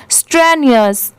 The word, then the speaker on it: strenuous: सारे लोगों को डिफिकल्टी होती है इसे प्रोनाउंस करने में, तो इसकी प्रोनाउंसिएशन आप याद रखिए स्ट्रेनियस स्ट्रेनियस। यहाँ पर STRENUOUS स्ट्रेनियस।